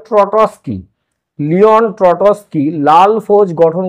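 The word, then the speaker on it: Trotsky: 1917 খ্রিস্টাব্দে লিওন ট্রটসকি উচ্চারণটা হবে ট্রটসকি লিওন ট্রটসকি লাল ফৌজ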